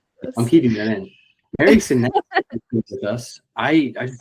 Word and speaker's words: Senese: Dang it, how do I pronounce your last name? Sess. I'm keeping that in. Mary Sess with us.